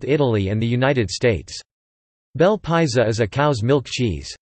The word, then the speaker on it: Bel Paese: Bel Paese, Italian pronunciation, Bel Paese, Ise, is a semi-soft Italian cheese.